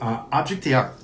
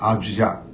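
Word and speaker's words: objet d'art: It's like Object d'Art is how you say it, I believe. So very, very just kind of not as bold as how we say it here in the US.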